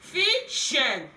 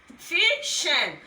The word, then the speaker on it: fission: Here you pronounce fission. Here you pronounce vision. You will discover that these two words sound alike, but we have different consonant sounds there.